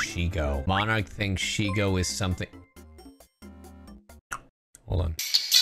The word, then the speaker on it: Shego: you say her name it's Sho like Diego it's not sheo sheo she gone so